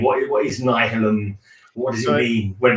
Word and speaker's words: Nihilum: Is that how you pronounce it? Nihilum, actually. Nihilum.